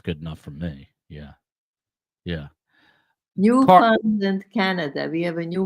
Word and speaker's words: Newfoundland: Newfoundland, Canada. We have a new member. It's pronounced Newfoundland, but yes, it is.